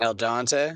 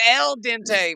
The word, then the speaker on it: al dente: that's what I say granny never al dante al dante no am I just mispronouncing things dude I think just that one thing really but who's Al Al's my pop shout out to Al Al Dante I thought it was L Dente man L sorry learning